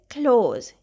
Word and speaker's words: close: The first word is close. Can you please close the door? Close, the opposite of open. Here letter S is saying the Z sound.